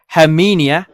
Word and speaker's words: Herminia: there's the low this is the storm her hermenia that's how you say it 32 likes wow